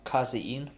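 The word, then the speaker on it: casein: call it in Germany I only know how to pronounce it in German uh kazin protein kin protein yeah c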